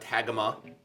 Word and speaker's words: Tagima: about the Tagima Tw-55, and that is right, that is how you say it. It's not Tagima or Tagima, it's Tagima.